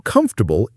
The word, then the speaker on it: comfortable: Notice how the or almost disappears and it becomes 3 syllables, not 4. It means aramdayak in Bangla. Think of it as come for the bull, but the bull is so comfortable it only takes 3 syllables to say it.